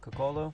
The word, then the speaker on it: Coccolo: This one is by Martin Coccolo. I think that's how you pronounce his last name, Coccolo.